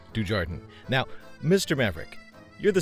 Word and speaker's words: Dujardin: It's pronounced Dujardin.